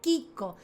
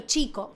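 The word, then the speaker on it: Chicco: Pero en realidad el apellido terminó siendo chico con doble C. Sí. Nosotros siempre pronunciamos chico. A ver, yo esto lo aprendí porque viví en Italia. Hoy diría chico, ¿eh? Y en italiano, Kiko.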